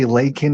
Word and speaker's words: Laken: It's not hard to say Laken, even though it's a name I never heard of. When it's so significant, it's not hard to read two syllables.